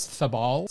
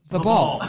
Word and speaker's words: Thaboll: And Angie's stepson's name is Thabal, spelled T-H-A-B-O-L-L.